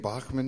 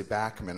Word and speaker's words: Bachman: And he said, "So how do you say your name Bachmann now?" And I said, "No, I say Bachmann.